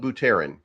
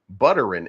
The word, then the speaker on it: Buterin: remember vitalik buteran and I love just saying but Aaron because I could also say buttering and people be like that's not how you say his name and I can be like it is how I say it so um vital dick